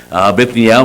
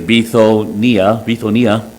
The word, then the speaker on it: Bithynia: After they were come to Mysia, they essayed to go into, and again in the English, I would think this would be pronounced Bithynia, but it actually is Bithonia.